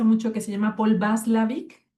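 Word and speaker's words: Watzlawick: Yo dije, es como Paul Václavic, que se escribe con W, Václavic.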